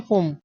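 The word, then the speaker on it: phum: तो उनमें वो प्रोनाउंसिएशन इसका क्या करते हैं, फुम।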